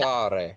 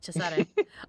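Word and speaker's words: Cesare: Uh he's a lot like Chisare. Uh Ferb said you could you could call him Caesar. I'm just telling you in in Italy that's pronounced Chisare.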